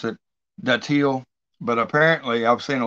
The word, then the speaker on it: datil: So I went back to an old classic, Bill Moore, He reviewed a daddle hot sauce. That's how he's pronounced it.